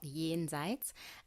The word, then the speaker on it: Jenseits: And how do we pronounce it, Jen Seats? So I'm half German, and yeah, it's basically a German word. It's called Jenseits, and it has the